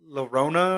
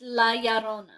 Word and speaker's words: La Llorona: I can't pronounce it. Lorona or It's La Llorona.